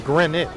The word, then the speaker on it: Greenwich: I thought it was Greenwich. It's just like Northford. Uhhuh. You don't pronounce the more like Portsmith. Okay. Runn. Okay. So run, but Okay. So you don't you don't pronounce the W.